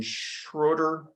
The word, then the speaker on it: Schroeder: They went on to buy the Sheraton Schroeder Hotel, I believe is the right way to say it, which was the